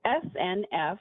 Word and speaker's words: SNF: So SNF, we pronounce it SNF, stands for Skilled Nursing Facility.